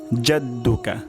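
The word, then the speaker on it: جَدُّكَ: ওয়াতা আলা ওয়াতা আলা জাদ্দুকা জাদ্দুকা জাদ্দুকা বললে ভুল হবে জাদ্দুকা ভুল উচ্চারণ জাদ্দুকা যা জাদ্দুকা জাদ্দুকা জা যা জাদ্দুকা ওয়াতালা জাদ্দুকা তাহলে ওয়াতালা এখানে আইন হবে জাদ্দুকা এখানে জিম হবে তাহলে আমি আবার রিপিট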